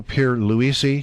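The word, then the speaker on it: Pierluisi: be doing the member from Puerto Rico Pedro Pier Lisi that's right that you pronounced it right did I get it right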